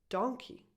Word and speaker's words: donkey: But this other animal is pronounced donkey. Okay? Just so you know. Money, monkey, but donkey.